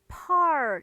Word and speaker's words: far: 요거를 far 이렇게 읽으시면 안 돼요. F 발음을 제발 살려서 읽어주세요. far.